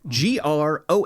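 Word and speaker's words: Groak: Gro broke broke Gro g r o a k Gro Gro Gro rhymes with croak mhm or soak or broke or poke and anybody got a peanut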